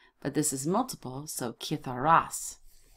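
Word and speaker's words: citharas: They're kith. Kith. Make sure now that I spell it right. C-I-T-H. Where are we? C-I-T-H-E-T-H-A-R. Kith-ar-as.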